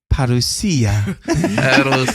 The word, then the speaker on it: parousia: Parousia. Apparently, you got to say it like a small Italian boy. Parousia. Parousia. You got to roll the R, and you got to go up at the end.